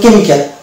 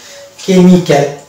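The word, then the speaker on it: chemical: যেমন কেমিক্যাল, এখানে কিন্তু কেমিক্যাল, সিএইচ দিয়ে শুরু হবে কেমিক্যাল শব্দটা, তো সেখানে কিন্তু আমরা এইচ এর উচ্চারণ পাবো না।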